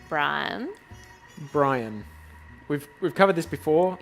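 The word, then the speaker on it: Briam: about, which is called Brian. Brian. We've covered this before. Yeah. It is spelt with an M at the end, right? An M at the end. Not an N. So it is not Brian.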